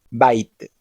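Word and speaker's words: בית: Por ejemplo, en la palabra Bait, que significa casa, Bet se pronuncia como una B con sonido fuerte, Bait.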